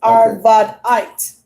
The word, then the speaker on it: Arvadite: That's how pretty much I pronounce it. Arvadite.